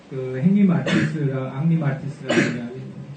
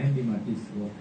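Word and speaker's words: Henri Matisse: 그 다음에 이제 또 하나 비주얼한 쪽은 왼쪽에 있는 그림은 앙리 마티스라는 불러서 발음을 하면 앙리 마티스, 영어로 하면 헨리 마티스고 댄스라고 하는 그림입니다.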